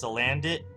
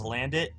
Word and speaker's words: Salandit: is hello there is pronounced salandit. Interesting. That's the first I've heard of that. Well, I I didn't watch the English dub of the anime. I just watched the first few in Japanese. That was basically it. Uh so yeah, if it's pronounced salandit, that that makes sense because it is pronounced salaz.